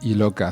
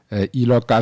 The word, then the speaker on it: Iloka: prononcé. Ça veut dire quoi? Iloka, c'est un nom composé. Mhm. c'est mon petit nom. que j'ai coupé à. Ok, Ça, c'est mon petit nom. Iloka, c'est un nom akboso ok.